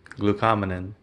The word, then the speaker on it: glucomannan: two things that I do not they put blue comb glucomannan thank you and collagen peptides I believe that